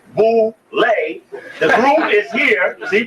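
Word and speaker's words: Boulé: go to the Boule picnic known as Bole pronounced Bole the group is here see Bole ble b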